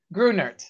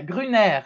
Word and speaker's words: Grunert: i like that better you do greenert grunert so you do pronounce the tea yeah okay that's what i was wondering yeah grinner is is is the french way how american of me